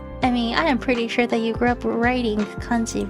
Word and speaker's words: kanji: We just decided to call them kanji because Han Dynasty in Japanese is kan.